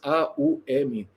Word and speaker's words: Aum: Omkara, né, as 3 sílabas, A-U-M, não é que os transcendentalistas cantam, Aum.